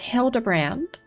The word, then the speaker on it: Hildebrand: It's pronounced Hildebrand.